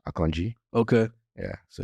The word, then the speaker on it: Akanji: season or is it aangi uh that's akanji by the way I pron I just pronounce it the correct way which is akanji okay yeah so it's